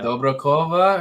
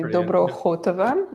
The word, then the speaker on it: Dobrokhotova: It's actually Dobrokhotova, if you're going to pronounce it the Russian way, but no one can do that. Dobrokhotova? Yeah, there you go. It's like the K-8 sound.